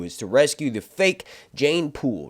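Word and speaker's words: Jeyne: It's Jane. Or Jane rhymes with pain.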